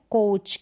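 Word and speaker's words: coach: इसके consonant letter होंगे जैसे यह कोच क्या है कोच तो ओ का ये जो ओ ए इसका साथ में उच्चारण ओ है लौंग है लंबा उच्चारण हो गया क को क पढ़ा कुछ नहीं पढ़ेंगे कोच यानी ओ इसका साउंड ब्लॉग हो गया फिर यहां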